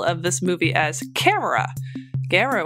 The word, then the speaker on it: Gamera: Gamera was originally named Kamera, based on the Japanese word for turtle, kame. Since this is identical to how the Japanese pronounce the word camera, Kamera, Gamera's opening consonant was altered for more pleasing lip and tongue action in Japan.